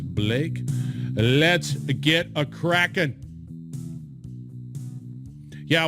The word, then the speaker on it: Blache: His name is, that's K-L-A-U-S, Blache, but notice the spelling B-L-A-C-H-E, but he pronounced it as Blake.